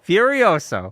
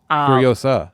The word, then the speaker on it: Furiosa: business yes starting tomorrow no Furioso oh furiosa furiosa I'm G keep saying it wrong fur because I'm saying it wrong now furiosa yes um I my